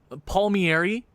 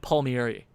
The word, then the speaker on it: Palmieri: But they could definitely use a forward guy, a guy like Gusev, Palmieri, which is apparently the way you pronounce his name. I'm still probably pronouncing it wrong.